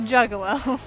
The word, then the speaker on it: Juggalo: Juggalo, is that how it's pronounced? I believe so. I might be able to... Like jugglers. Yes, exactly.